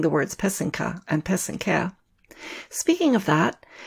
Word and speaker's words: pysanka: The accent is on the second syllable. An easy way to remember how to say it is that the first and third syllable rhyme. So that's the pe and the ke. Put it all together and you get pesenka.